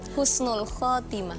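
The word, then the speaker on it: حسن الخاتمة: keren keren Masyaallah Masyaallah Jadi sebenarnya yang benar itu Husnul Khatimah Husnul Khatimah Husnul pakai husn h hulah i penutup yang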